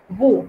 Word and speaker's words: vous: Y la S final tampoco se pronuncia, salvo ciertas excepciones. Entonces, ejemplo de esto es vous. La palabra vous, que es un pronombre personal, significa usted, ustedes o vosotros.